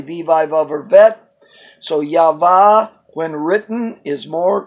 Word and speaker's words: Yahweh: was the one that brought back the name pronounced Yahweh but a more correct way for the pronunciation of the name is the third letters actually vivre I've ever bet so Yahveh when written is more correctly pronounced than Yahweh